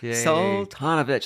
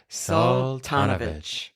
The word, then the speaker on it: Soltanovich: last name oh yeah you'll say it correctly Sal tanovich let's say it together salanovic is that how you like it to be pronounced I like when there's